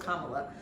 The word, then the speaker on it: Kamala: it yes she call herself mamala so it's Kamala um I mean her step children call her